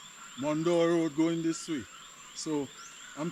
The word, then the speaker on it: Morne Dor: So folks, I'm here now at the junction of Leo Road and Mandor. They spell it M O R N E D O R. Mandor going this way.